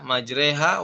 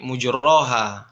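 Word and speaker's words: مجراها: Bismillahi majreha ya majreha wur wa mursaha dibaca dengan imalah dalam riwayat Hafz ya. Apakah dalam Imam Sybah itu dibaca ee dengan imalah majreha? Tidak. Nah, dibacanya bukan bukan imalah tapi mujroha seperti itu.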